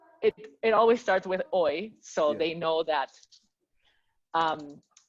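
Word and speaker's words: hoy: know how to write oi they don't know that it's pronounced as yeah h-o-y they don't know that right you're saying that because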